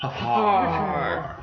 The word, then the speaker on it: Hfuhruhurr: Which no one pronounces correctly, but he's pronounced just as you spell it. Hfuhruhurr. Huffar.